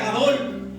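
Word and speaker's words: גדול: Porque podemos ver la palabra grande, en el hebreo se pronuncia Gadol.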